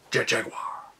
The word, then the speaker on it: Jet Jaguar: yes you have to say it like that jet jaguar as the two heroes battled megalon and geigen